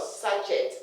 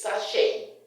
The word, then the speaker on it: sachet: Besides, it's not sachet, it's sachet. The T is silent.